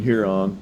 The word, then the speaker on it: Huron: Well, I do know that when I come up here, we stay in Huron. Did I say it correctly?